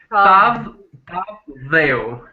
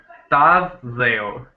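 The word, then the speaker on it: Tavë dheu: How do you pronounce it? Tavdeo. Tavdeo.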